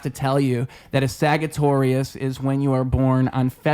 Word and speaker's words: Sagittarius: That's what a Does it Sagittarius cross over with is. Taurus there? No, completely unique. Oh, okay. Yeah. Saga with a soft G.